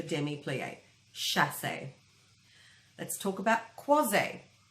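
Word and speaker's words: croisé: Let's talk about croise. Pronounced croise, but spelled C-R-O-I-S-E.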